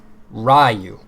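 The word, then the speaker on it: Ryuu: So I know Ryu is a real name, but that's not what they said it was. They spelled it like that. They spelled R-Y-U-U, but they said Ryu.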